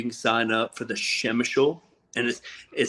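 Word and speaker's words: Przemyśl: sign up for the Shemishal and it sounds funny. It's pronounced completely different than it's spelled. Like us folks here in the U.S., it's like PSY. It starts with PSY, but it's pronounced Shimshul.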